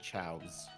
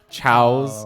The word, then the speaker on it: Chao: Chao is Chao. The plural of Chao. All right, is Chao. If you put an S on it, it's chaos. It's and chaos. That's a different character.